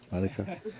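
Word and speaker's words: Marijke: m a r i j k e is pronounced M M Mara sorry Mara so again lately I'm experiencing that I'm merging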